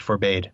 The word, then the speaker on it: forbade: And I just realized that although I I correctly pronounced angst and Telkar, I I mispronounced forbade. For bad. For bad. I'm sure forbade is an acceptable American pronunciation probably, but it just doesn't seem right for us.